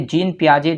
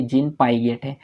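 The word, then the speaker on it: Jean Piaget: से प्रोनाउंस करते हैं तो देखिए जीन पियाजे जो है उनका नाम है लेकिन अगर आप उसको स्पेलिंग को देखेंगे तो आप नॉर्मली पहली बार आप सोचेंगे जिन पाएंगे तो इसलिए एग्जामिनर यहां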